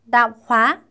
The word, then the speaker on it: tạp hóa: tạp hóa. 이게 자파라는 표현이거든요. 발음 비슷하죠? tạp hóa.